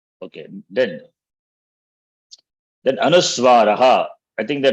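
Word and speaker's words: अनुस्वार: So Anuswara, they cannot be pronounced independently. So whatever the pronunciation of the vowel, along with that vowel, the Anuswara is pronounced. Now, for example, here if you see, am, im, rim, lum, aim, om. In fact, that is om. So that is how it is pronounced. Therefore, makar, this Anuswara doesn't have independent pronunciation. Takes the sound of the vowel.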